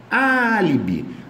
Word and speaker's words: álibi: tônica é a antepenúltima álibi álibi não é paroxítona terminada de álibi é proparoxítona só separar aqui ó a última penúltima antepenúltima proparoxítona que já tá errado contra-filé é oxítona terminada